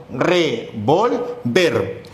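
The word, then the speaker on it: revólver: Entonces pronunciamos revolver. Luego tenemos aquí revolver, donde la sílaba tónica, el acento se encuentra en vol. Entonces es revolver y revolver.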